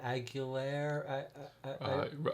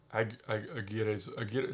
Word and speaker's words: Aguirre: I know you've seen, called The Wrath of Aguilera. Wrath of Aguirre.